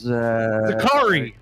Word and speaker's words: Zakri: have probably butchered that hold on zakari no SS this is zakari very Safari zakari zakari zakari car right like that going on Zachary's Zachary's